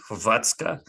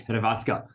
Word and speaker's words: Hrvatska: Croatia, or as the my attempt to name the country locally would be Hrvatska. It's a bit strange the way they spell it, but there we go.